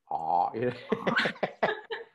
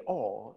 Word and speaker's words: awe: know like ah and i hate how i pronounce it ah whenever i talk to british people and they're like so you study all and i'm like i study ah you know and they're